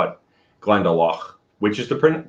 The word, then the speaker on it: Glendalough: found out that dubliners like east coasters say glendalough uh i learned i know i learned how irish in the connect style so i i call it glendalough which is the correct pronunciation because dubliners are